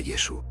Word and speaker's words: Yeshu: pudo llevar a que el nombre de Jesús en su círculo familiar y social se pronunciara Yesu. Esta forma abreviada es más simple y refleja la pronunciación natural en la región de Galilea, donde Jesús creció y desarrolló su ministerio.